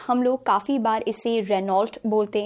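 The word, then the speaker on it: Renault: सो यहाँ पर we need to remember it's नॉट रेनॉल्ट, it's Reno. Reno is the correct pronunciation.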